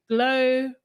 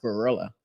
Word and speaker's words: GloRilla: I actually thought it was like pronounced like gorilla.